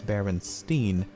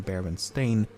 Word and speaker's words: Berenstain: anthropomorphic bears however many remember the name as berenstein and not baron stain i also find it